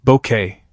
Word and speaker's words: Bucket: It's been over 3 decades since Keeping Up Appearances first aired, bringing endless laughs with the unforgettable Hyacinth Bucket, pronounced Bouquet, of course, and her hilarious attempts to climb the social ladder.